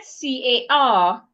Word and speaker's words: car: The word C A R in standard British English is pronounced car. The letter R at the end of that word is not pronounced. If it was American English, Americans will pronounce the letter R and say car. But British will not pronounce the letter R. British would just say car.